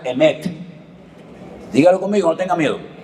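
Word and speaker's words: אמת: La palabra verdad, se la voy a enseñar para que aprendan a decirla en hebreo, se pronuncia emet. Dígalo conmigo, no tenga miedo. Emet, E-M-E-T, emet.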